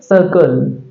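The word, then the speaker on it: circle: आर सी एल ई सी आई आर सी एल ई इसको पढ़ा जाएगा सर्कल सर्कल सर्कल है ना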